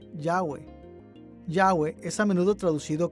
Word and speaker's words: Yahweh: arqueológicos han indicado que este término debe ser pronunciado yahwe yahwe es a menudo